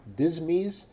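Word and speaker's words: disme: coins produced were 1500 half dismy and I know that's not the official pronunciation but in honor of my good friend Dennis luring I'm going to pronounce the word dismi in this talk uh in 1792 for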